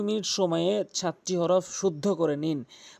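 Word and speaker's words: ثاء: সা জিহ্বার আগা দাঁতের আগার সঙ্গে মিলিত করে ৩টি হরফ উচ্চারণ করতে হয়।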